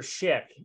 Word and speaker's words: Szyk: to talk about Arthur Schick and uh although it's pronounced like the razor you can see it's